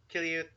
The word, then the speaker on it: Quileute: Kiliut. It doesn't really solve the pronunciation, does it?